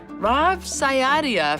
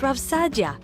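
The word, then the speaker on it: Rav Saadia: Rav Sayadia, for example, It's pronounced Rav Sadia.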